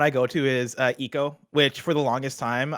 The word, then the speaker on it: Ico: go to is uh eco which for the longest time i like i always went back and forth between you at eco and i go uh i probably started off by calling it ico um and that was